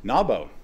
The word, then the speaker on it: NABO: NABO, as we pronounce it, is a clever acronym, or it tries to be.